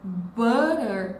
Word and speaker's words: butter: Por que que a gente fala butter com esse R fraco no meio? Porque esse T está entre dois sons de vogais.